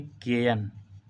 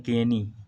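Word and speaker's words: Cayenne: इसकी राजधानी है केयन, केयन, या इसको हम बोल देते हैं केनी, वो ठीक है ना। तो उसका वो डिपेंड करता है कि आप किस तरह से उसका प्रोनाउंसिएशन कर रहे हैं।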